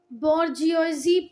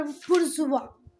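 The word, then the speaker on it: bourgeois: बेटा आप इसको बोर्जियोजी पढ़ लो, पर बुर्जुआ इसका प्रोनाउंसिएशन क्या है? बुर्जुआ।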